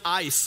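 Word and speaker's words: εἰς: word for is a a Greek preposition is pronounced ice and it simply means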